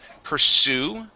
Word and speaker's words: pursue: All right, let's go to the word pursue. Pursue, stress at the end.